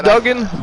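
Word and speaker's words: Duggan: without him Hacksaw Jim Dugan yeah dougen however you want to say his name I mean people have said it both ways over time so I believe it's Dugen but I've heard it both ways yeah but number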